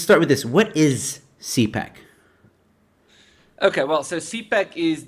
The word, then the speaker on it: CPAC: Am I pronouncing it correctly? CPAC? Yeah, okay. That's it.